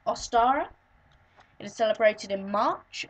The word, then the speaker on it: Ostara: Halloween basic information it is the holiday is pronounced ostara it is celebrated in March around the 21st